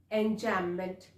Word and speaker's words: enjambment: which is called enchantment B is silent over here so we will call it enchantment what exactly is it